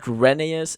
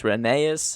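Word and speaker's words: Rheneas: It's not Reneus. It's Reneus.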